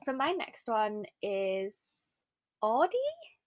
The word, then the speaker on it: Audie: So So my next one is Audie? Is that Audie, how you pronounce her name?